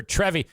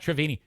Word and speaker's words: Trevi: de Trevi trevini or Trevi not travini Trevi I'm saying it wrong Trevi Fountain idiot you got all these